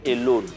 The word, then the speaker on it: Elow'n: Non, en fait, je m'appelle Elone. Ah, Maintenant, il y a la vieille qui n'arrivait pas à prononcer Elone, elle disait Elou. Donc moi aussi, à cause d'elle, les gens m'appelaient Elou.